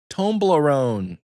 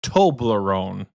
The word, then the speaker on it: Toblerone: Tomblarone. No, Toblerone tomb.